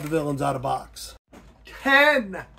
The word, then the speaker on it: Tengen: Tengen, not Tengen. It's an E, not an A, Dad. Pronounce it right, Dad.